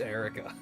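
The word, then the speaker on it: Eirika: I finally know that it is pronounced just Erica that's one of those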